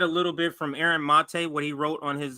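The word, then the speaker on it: Maté: Or he pronounces it Mate.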